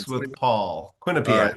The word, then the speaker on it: Quinnipiac: Give me the pronunciation. Phonics with Paul. Quinnipiac.